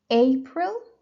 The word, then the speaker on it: April: is only one syllable April so the stress is on the first syllable May June May and